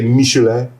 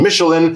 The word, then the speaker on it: Michelin: I think the French would say Michelin, but we're going to go with the English pronunciation Michelin.